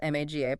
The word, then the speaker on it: MAGA: Yeah, it uses this example of Trump and his supporters, specifically the MGA, that's MAGA, pronounced MAGA crowd.